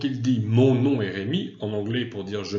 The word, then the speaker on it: Rémi: Je le prononce en français parce que c'est un français qui parle, donc il s'appelle Rémi.